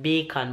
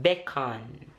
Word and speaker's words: beckon: Bacon like the food? Not bacon, but beckon.